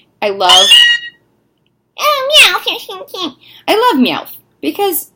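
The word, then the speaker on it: Meowth: just like anyway and mouth I love I love me out because when you say his name it sounds like you have a list and you're saying mouse and it's just the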